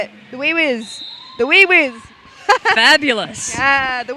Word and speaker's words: WIWS: I'm being told that wheeze is fine. Wee-wees is how you say it. The wee-whiz.